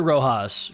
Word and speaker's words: Roxas: They do pronounce it Rojas, just to be clear, but it's still spelled Roxas, so I say go for it.